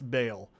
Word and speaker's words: Baal: bouncy, bouncy, bouncy, bouncy, bouncy, bouncy, bouncy, yeah, bale's not a ball. It's it's bale because it al you say like, oh, well, it's ball because it sounds like diabolical.